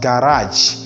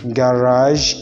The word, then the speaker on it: garage: regime garage and stage not regime not garage no stage it is regime garage and stage these are the representation